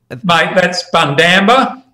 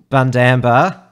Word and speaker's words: Bundamba: And obviously, you need to work on your pronunciation, Tim. That's Bundamba. Bundamba.